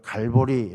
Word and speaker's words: 갈보리: 해골 지역을 이야기하는 것인데 우리가 갈보리 라고 이야기하는 것은 라치오의 s 기원에서 영어식으로 발음한 은 것이죠 그래서 골고다 어머 갈보리